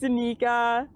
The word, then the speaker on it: Danika: So, it's pronounced Danica.